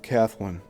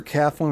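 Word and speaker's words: Kathlyn: On December 29th, 1913, Celig Polycope debuted the first episode of The Adventures of Kathleen. It's either Kathleen or Kathleen, but it's spelled K A T H L Y N.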